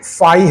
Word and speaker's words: phi: सो ये 5 होता है, फाई नहीं होता, फाई इसको बोलते हैं, ठीक है, फाई, PHI फाई।